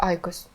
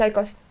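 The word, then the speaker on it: IQOS: Тебя сейчас забанят, а нет, не забанят, я уже какой раз выхожу с Айкос. И Айкос. Я такая, почему Айкос? Захожу в Google, такая, как правильно читается Айкос? И там ударение на А, я такая, так, либо я тупая, либо эти девочки тупые.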